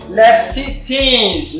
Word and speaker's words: Leftytinz: I find it somehow to get the pronunciation of your name. Would you like to tell me? Leftytinz. Leftytinz.